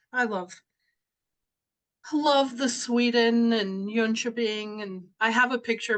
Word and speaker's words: Jönköping: I've always pronounced it Jonkoping. okay, yeah, it's Jönköping because the O's have two dots over, Okay. and a J is pronounced like a Y.